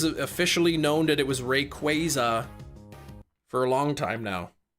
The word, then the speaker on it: Rayquaza: Pokemon gave an official pronunciation for Rayquaza. It's Rayquaza. When did they release that? Because I thought it was officially known that it was Rayquaza for a long time now.